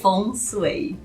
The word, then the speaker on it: Feng Shui: Feng Shui. Obrigado. Essa é a forma chinesa de pronunciar os ideogramas, né?